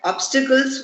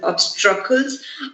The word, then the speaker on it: obstacles: And the word obstacles was mispronounced as obstrucles. I understand that there's a common misconception and people confuse it with this very similar word obstruct. So the word obstruct and obstacles are different, although they have the same meaning.